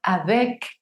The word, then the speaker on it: avec: Si yo tengo la palabra avec, esa C suena.